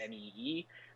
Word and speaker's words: mu: uh you know it is going to the world health organization i presume they will call it uh the next greek letter which is but pronounced m-e-e um uh and i